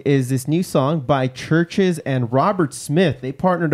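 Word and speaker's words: CHVRCHES: up on deck is this new song by churches and robert smith they partnered up for this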